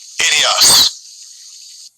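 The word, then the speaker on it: ἴδιος: Idios. Idios. Yeah, and that would be the pronunciation in the Greek for this word own.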